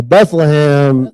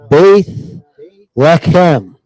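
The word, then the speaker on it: בית לחם: look up the Hebrew word for Bethlehem now Bethlehem that's how you say it in English Bethlehem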